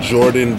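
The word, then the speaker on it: Guordan: Probs, I think this is how you say his name. I don't want to fuck it up, but Jordan Banks, it's spelled G-U-O-R-D-A-N. So Jordan Banks, prodigy of Mobb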